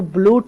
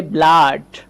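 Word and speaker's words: blood: যেমন ধরেন আমি বলতে পারি এই যে বানানটা এটা কিন্তু ব্লুট না। এটা উচ্চারণ করতে হবে ব্লাড। ব্লাড এখানে কিন্তু আ উচ্চারণ হবে।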